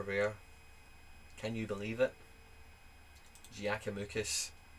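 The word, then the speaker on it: Giakoumakis: Giacomakis, that's how you say it. Giacomakis.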